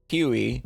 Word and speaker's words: Huey: And then we have Officers Tariq Chopin and Huggy Rogers, as he is now known, thanks to my friend a Flatcap, mispronouncing Huey by just sight reading.